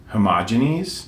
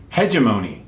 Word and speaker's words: hegemony: inclusive um H um I always mispronounce this homogene no hegemony hegemonies that's it I got it I